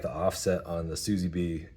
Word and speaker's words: SZBE: It's SZBE. And he says it's pronounced like Suzy B.